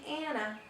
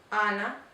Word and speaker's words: Ana: In English it would be Anna, but in Spanish it's Ana.